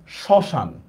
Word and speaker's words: শ্মশান: মনে করেন আমি লিখলাম দেখেন শ্মশান, তো দেখেন মফলা আছে কিন্তু উচ্চারণ হয় না।